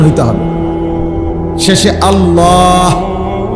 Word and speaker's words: আল্লাহ: শেষে আল্লাহ, শেষে একটা গোল হা আছে, ছোট হা। আল্লাহ মানে আল্লাহু।